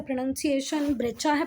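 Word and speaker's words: breccia: और इसकी एग्जांपल है सैंडस्टोन एंड ब्रेचा। इसको पढ़ के कोई नहीं बोलेगा कि इसका प्रोनाउंसिएशन ब्रेचा है, पर बेटा ब्रेचा ही, आप गूगल पे चेक कर सकते हैं।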